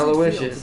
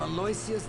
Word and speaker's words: Aloysius: I am Aloysius, by the way. Aloysius. So you pronounce it Aloysius, or at least that's how the game said it.